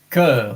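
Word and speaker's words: cœur: e in English comes from the the the cur C O E U R and now there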